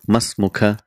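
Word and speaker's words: ما اسمكَ: If it is a male, you will say masmuka.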